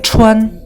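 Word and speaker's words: 穿: นี้ อ่าน ว่า ชวน ออก เสียง ชวน ชวน แปล ว่า สวม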